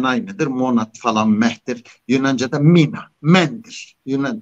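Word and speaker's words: μήν: Yunanca'da mina, mendir. Eski Yunanca'da mendir. Min okunur şimdi.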